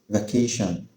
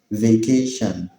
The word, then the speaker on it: vacation: The first one is Vacation. In British English, the word is pronounced vacation, vacation, whereas in American English, it's pronounced vacation, vacation.